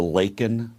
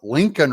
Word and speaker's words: Laken: says her name and he calls her Lincoln Riley instead of Laken Riley I'd be a winner